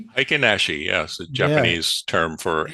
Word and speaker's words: Heikin-Ashi: the real chart and the how do you pronounce it? Henashi. Hikenashi.